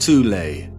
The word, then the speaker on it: Thule: called The Soul Society sometimes alternatively pronounced toulay that had sub-factions within